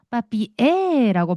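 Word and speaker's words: papier: 대신에이 친구가 r이 생 알이 있는 이유는 빠삐으라고 발음하는게 아니라 빠삐에라고 발음해 주기 위해서 R이 생겼다라고 보시면 돼요.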